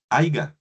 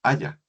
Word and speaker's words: haya: O cuando le decimos a un compañero que no se dice haiga, se dice es haya.